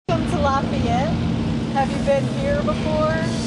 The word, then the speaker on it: Lafayette: which do you like how do you pronounce it Lafayette I call lafette laf La this is